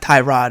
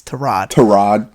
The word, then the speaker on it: Tyrod: It's not Tyrod, it's Tyrod. Tyrod Taylor.